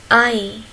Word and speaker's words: Ei: On a ici et i. C'est ei. Ei, c'est l'œuf. Ei, c'est l'œuf. Comme nein. Ei, nein.